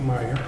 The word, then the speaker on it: Meyer: for a question and most people say mayor because it's an a there but the correct pronunciation is really meyer well i want to